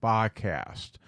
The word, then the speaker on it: BHH Cast: Okay, let's talk about the BHH cast, which is pronounced Bacast.